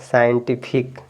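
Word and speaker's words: scientific: गया तो आप पढ़ेंगे सीजर यहां से सी साइलेंट हो गया साइंटिफिक यहां से सी साइलेंट हो गया तो आप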